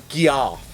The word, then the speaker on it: Geoff: I believe it's pronounced Geoff.